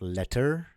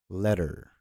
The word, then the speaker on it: letter: Rule number 5 is to pronounce double consonant T as a soft D. So for example, the word little, letter, right? So it's not little, it's little. It's not letter, it's letter.